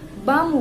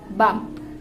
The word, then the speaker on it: bomb: So the B sound behind the bomb word is not be pronounced. We just say bomb, not bump, no, bomb, just bomb.